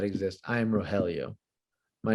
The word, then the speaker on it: Rogelio: it's me i'll go ahead and yell out rogelio and they're like okay hi how do you